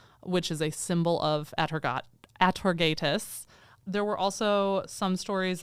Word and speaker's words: Atargatis: There were a few different pronunciations, but the one I'm going with is Atargatis. Okay. I've also heard Atargatis. I'm sure there are other correct pronunciations, but I'm going Atargatis.